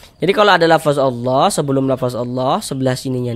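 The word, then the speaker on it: الله: Wallah, lafaz Allah dibaca panjang.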